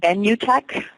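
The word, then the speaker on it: Benutech: I want to think it is it's called venue Tech and it's spelled b-e-n-u-t-e-c-h and through that system you can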